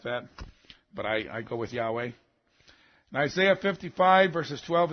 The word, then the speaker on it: Yahweh: And many people think it's pronounced Yahweh. Some say Jehovah or something like that, but I go with Yahweh.